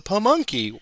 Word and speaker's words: Pamunkey: The additional movement restrictions are the no unit may cross the Pamunkey, and I finally pronounced that right. It's the Pamunkey.